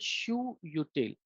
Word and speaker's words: shutil: Okay, so and you have something called shoe util. Okay, shutil. Okay, actually you can pronounce it shutil or shutil.